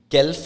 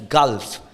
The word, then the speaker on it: Gulf: know how to pronounce that fix it's fixed gelf it's Gulf so keep on practicing